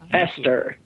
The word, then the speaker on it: Pastor: Hester.